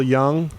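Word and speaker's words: Jung: sorry mispronouncing that um I believe it's pronounced Carl Young Carl Young as noted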